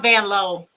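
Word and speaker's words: Vanloo: It's pronounced Van Loo. I know they say Van Loo, but she said her name was Van Loo. Not saying that y'all are telling me that, but that's how you say her name.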